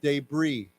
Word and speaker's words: debris: suspected debris suspected debris remember no s so let's say one more time debris okay it released images